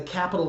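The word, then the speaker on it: Qapital: last week is the Capitol savings account and the app that goes with that Capitol is spelled with a Q QAPI tal that is such a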